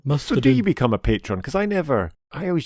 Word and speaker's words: Patreon: on our patreon uh now actually I say patreon it's patreon isn't it somebody somebody sent a message correct